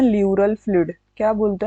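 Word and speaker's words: pleural: है उसको बोलते हैं ल्यूरल फ्लूइड। क्या बोलते हैं? ल्यूरल फ्लूइड। देखो प्लूरल मत बोलना, इसे बहुत गंदा हो जाएगा।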